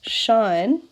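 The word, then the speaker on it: sinh: Okay, if we have y equals shine, that's how we pronounce sine hx, this time we're going to have the opposite thing happening.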